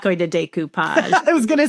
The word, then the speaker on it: decoupage: Here's how you pronounce it. It's decoupage.